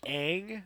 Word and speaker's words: Aang: Every time someone said Ong in the movie, I died a little bit on the inside. Like, who the fuck is Ong? Oh, you mean Aang?